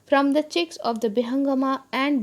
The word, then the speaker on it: Bihangama: the chicks of the Bihangama and Bihangami, Bangoma and Bangomi in Bengali pronunciation, or in the Bengali name, Bengali colloquial name.